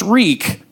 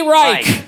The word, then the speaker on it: Reich: My grandparents on my mom's side, last name now pronounced Reek, used to be Reich.